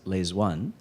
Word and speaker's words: Le Duan: on the Politburo named Le Duan, L-E-D-U-A-N. He spells it for the president, which is actually pronounced Les One.